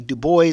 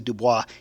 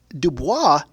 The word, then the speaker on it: Du Bois: Now, I have seen his name pronounced as W.B. Du Bois, but I believe it's supposed to be Du Bois.